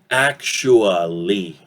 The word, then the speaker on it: actually: And normally we pronounce it actually, okay? Shua. This T sound has that ch sound, okay?